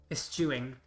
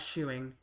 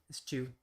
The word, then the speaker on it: eschew: Eschewing. Ah! Eschewing. Okay. Not shewing. Stewing. You pronounce it TH, it looks like. Eschew.